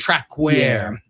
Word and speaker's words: Traquair: How do you pronounce it? Trackware House. Trackware House Ale.